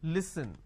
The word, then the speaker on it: listen: For example, listen. Now the listen word pronounced as l, e, s, li.